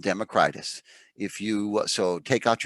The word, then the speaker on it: Democritus: you're back okay 5 democritus by the way it's pronounced democritus or democritus and i'm slowly learning that almost everybody who knows what they're talking about